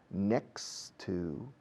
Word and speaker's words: next to: Pasamos de la X de next a la T de to.